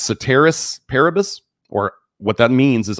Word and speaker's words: ceteris paribus: The same changes may result from consumption of diets which have, I believe that's pronounced ceteris paribus, or what that means is all other things